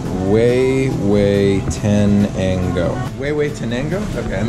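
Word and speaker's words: Huehuetenango: Pronounced way, way tenango.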